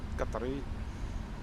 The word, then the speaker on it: Qatari: Qatari.